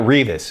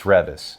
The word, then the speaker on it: Reavis: It's not Reavis, it's Reavis.